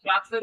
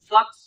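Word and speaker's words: flux: আর ফাই মানে কি আচ্ছা ফ্লাক্সের উচ্চারণ flight fly flight ফ্লাক্স ফ্লাক্স এফ এল ইউ এক্স ফ্লাক্স ফ্লাক্স ফ্লাক্স চাপ হয়ে দেন অন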